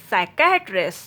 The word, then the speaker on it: psychiatrist: Rule of silent letter P is if a words begin with PS or PN, then letter P will be silent. Pseudoscience, psychiatrist, psychology, psychotherapy, psychologist, pseudo, psychic, psychotic, pneumonia.